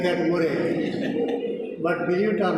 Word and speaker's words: Murray: All of them said, Andy Murray, Murray, hip hip hooray, like that Murray.